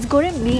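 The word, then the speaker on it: Göreme: If you look around, you'll see that the architecture of Cappadocia, of Goreme, I think they pronounce it as Goreme, as Goreme actually, I think I heard Mehmet say on the phone, Goreme, it's very cavey, it's very old world.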